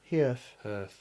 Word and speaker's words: Herf: Half? Yeah. How do you say his surname? Herf. Herf, yeah.